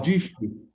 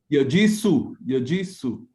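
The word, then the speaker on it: يجس: Now, Yajishu. this is not a she. Yajisu.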